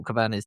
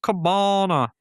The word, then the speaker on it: Cabana: Um because he's like, "I'm the winner of the fork, Cork Cabana." And I was just stop laughing. Yeah. Doesn't matter what what country you're in, his surname rhymes with banana.